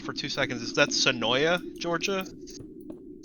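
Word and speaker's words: Senoia: two seconds is that sanoya georgia i think it's pronounced to noah but yes s-e-n-o-i-a gotcha i found that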